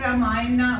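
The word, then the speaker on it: राम: because it is a holy book it is ramay but when we write we write like this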